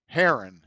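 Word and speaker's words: Herron: r r oh okay r r o o Haron it's Haron take away that obituary that ain't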